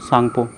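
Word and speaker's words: Tsangpo: टी इसमें silent रहता है, तो टी सांगपो नहीं बोलते, सांगपो बोलते हैं, यारलुंग सांगपो।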